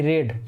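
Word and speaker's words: read: रीड का जो रीड यानी पढ़ना, और इसका सेकंड फॉर्म भी यही होता है, थोड़ा प्रोनाउंसिएशन बदल जाता है, रीड, रेड और रेड।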